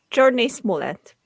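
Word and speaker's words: Jurnee Smollett: So Journey Smollett.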